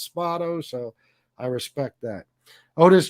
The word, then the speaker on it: Spado: with oris uh orispato i always pronounced it spato by the way but he says it's spotto so i respect that